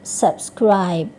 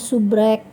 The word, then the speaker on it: subscribe: Cara membacanya subscribe. Subscribe. Oke. Ada yang membacanya subrek, ada yang membacanya subscribe, dan lain-lain. Jadi yang benar bacanya subscribe.